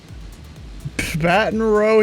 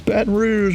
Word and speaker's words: Baton Rouge: Baton Rouge, he calls it. It's Baton Rouge, my boy.